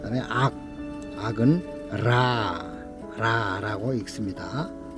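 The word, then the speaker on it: רע: 악은 라라고 읽는데요. 히브리어 라.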